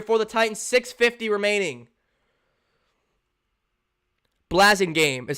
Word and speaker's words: Blasingame: Blasingame is how it's pronounced.